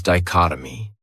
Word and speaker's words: dichotomy: Another great noun is dichotomy. This word has 4 syllables, and the stress is on that second syllable. Dichotomy. That third syllable has that schwa.